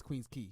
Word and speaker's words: Queens Quay: it's on Queen that's Queen's key he's like what like yeah I know I agree with you it's Queens Quay but it's pronounced Queens key he's like that's a